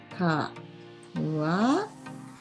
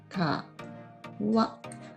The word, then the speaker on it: 川: かわ pronunciation かわ which means river.